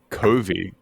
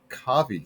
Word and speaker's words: Kovi: Or when they mispronounce my name, instead of saying Kovi, they say Kovi. They're like, oh, like COVID.